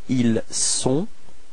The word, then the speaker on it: ils sont: So actually this first sound, I mean this S, is the only way to dissociate être from avoir for il and elle. Okay, so don't be afraid to pronounce this S quite strongly.